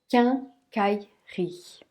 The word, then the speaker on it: quincaillerie: ce mot qu'elle khairi quincaillerie qu'un alors ici le u n'est pas prononcé et on a le